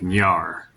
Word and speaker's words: Nyar: A hard R after the N at the start. So like Nyar, like that. And then you add the rest of the name.